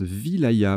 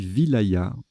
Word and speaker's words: wilaya: Ah, ça se prononce Vilaya. Ben, vous voyez, je le découvre. Petite découverte. Donc, on dit Vilaya.